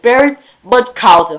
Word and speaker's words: Baron Munchausen: It's Baron Munchausen.